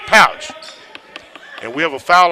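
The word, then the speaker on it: Pautsh: It's spelled P-A-U-T-S-H, but it's pronounced Pouch.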